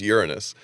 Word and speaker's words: Uranus: with just terrible names uranus it's supposed to be pronounced uranus not that it makes